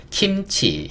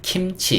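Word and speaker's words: kimchi: 되고 안 거도 돼요 킴치 킴치 이렇게 얘기합니다 외국인들이 김치 이렇게 발음 안 해요 김치 그래서 기억이지만 개라고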